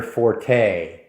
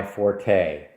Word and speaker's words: forte: say, "Is that your forte?" Or "That's not my forte." That's something that's your strong suit. That's not correct. Forte is actually in music. It's a musical term. The correct pronunciation is fort.